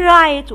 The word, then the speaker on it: write: write w r i t e write. قلنا خلي بالك ان w silent، بقول write.